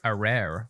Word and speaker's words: arare: but honestly, that says arare. I don't know how else to say that. Arare. It's the word rare with A at the front.